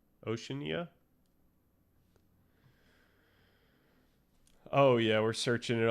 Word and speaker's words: Oceania: Oceanania. Oceania.